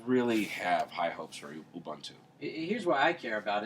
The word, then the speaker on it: Ubuntu: Ubuntu what a great how do you pronounce it Ubuntu like you yeah I can't say